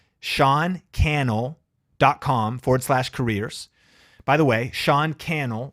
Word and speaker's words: Cannell: By the way, Sean Cannell rhymes with YouTube channel. People say Cannell. It's Sean Cannell, just, podcast, like it's the story of my life. Sean Cannell. It's Cannell, rhymes with channel.